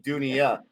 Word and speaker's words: Dunya: in the video how to say it you duniya right this world if you haven't watched this